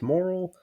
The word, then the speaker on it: Morrill: Doesn't look like it, but it's pronounced Moral.